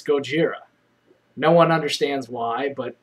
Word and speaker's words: Gojira: and how things are pronounced like Godzilla isn't pronounced Godzilla it's Gojira no one understands why but we still go